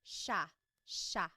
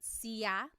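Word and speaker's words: siya: It looks like it should be pronounced cia, but it's actually pronounced sha sha. There are some regions in the Philippines that might pronounce it sia, but for the most part in the central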